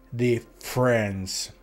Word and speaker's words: difference: quindi molto simile all'italiano, ma la doppia F non si pronuncia, si pronuncia come se fosse una sola, e la E prima della R sparisce, quindi diventa difference.